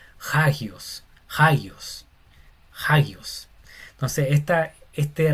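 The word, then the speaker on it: ἅγιος: Cuando la coma encima está mirando hacia la derecha, se pronuncia como una J o una h inglesa, no sería agio, sería hagios.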